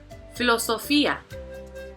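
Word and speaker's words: filosofía: the prootic accent AC next philosophia here we have five syllables so again look at the second to the last so Fe is going to have the prootic accent all right so you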